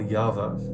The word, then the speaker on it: Yava: before we got here oh it's actually y-a-v-a I thought they were just making a stupid joke about Java pronouncing the J like a incorrect way also yeah there's actually